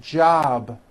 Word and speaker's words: job: is unvoiced for example job ends in a b which is a voiced sound job it's not J with an unvoiced P keep the voicing going throughout the whole word job with a voiced B ending same thing with robe